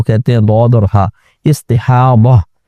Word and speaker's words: استحاضہ: ہیں ضاد اور ہا، استحاضہ، اور اردو میں استحاضہ کہہ دیتے ہیں زی کے ساتھ، تو یہ ہے ضاد ہی لیکن اردو میں ہم زی کے ساتھ تلفظ کرتے ہیں استحاضہ۔ استحاضہ کا مطلب یہ